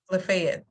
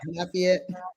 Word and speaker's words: Lafayette: Lefet. That's who that is right. Lafayette. Lafayette. Am I name? Am I pronouncing the A with a sorry?